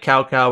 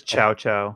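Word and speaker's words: Cao Cao: name that looks like Cow Cow, but it's not Cow Cow? How do you say that? Usually I hear it as Chow Chow. Chow Chow. No, it's in Cantonese, it's a Toe Toe.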